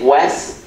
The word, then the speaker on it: Wes: It's not Les with an L, it's not West with a T, it's Wes, check it out, Wes.